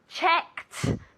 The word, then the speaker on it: checked: good pronunciation yesterday I checked very important okay it's with a t sound a casa very good